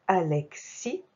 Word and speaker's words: Alexis: Donc Alexis, donc le xi avec un X et S muet.